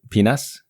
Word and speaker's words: PNAS: Great journal or PNAS, I believe you like to pronounce it penis.